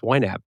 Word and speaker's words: YNAB: He's the founder of You Need a Budget, or YNAB, pronounced YNAB.